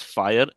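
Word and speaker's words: FHIR: So, though it's called as fire, it's spelled as f h i r.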